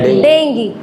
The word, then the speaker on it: dengue: When somebody is suffering from dengue, which we call dengue, but the actual pronunciation is dengue.